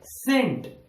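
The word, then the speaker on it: scent: तो एस के बाद सी हो या सी से पहले एस हो, तो हमेशा सी साइलेंट होगा और वहां पर एस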